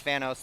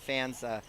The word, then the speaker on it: Fanos: It's Fanos, not Fans.